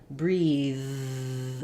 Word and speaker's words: breathe: different vowel there but when I have breath at the end there's uh just uh just air no voice and breathe at the end my voice stays on and it's uh a different sound um okay so you